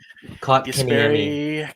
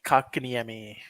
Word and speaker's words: Kotkaniemi: Kotkaniemi. Kotkaniemi. Kotkaniemi.